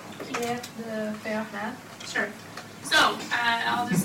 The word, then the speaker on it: Fermat: Pierre de Fermat. Sure. So, I'll just say Fermat. So Fermat's last theorem, has anybody heard of Fermat's last theorem, one of the millennium? Of course I have. The millennium problems? Fermat's last theorem, anyway, look it up.